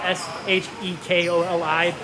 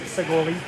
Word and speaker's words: Shekoli: Our K's are really like G's, so you spell it S-H-E-K-O-L-I. Looks like Shekoli, but really it's pronounced Segoli.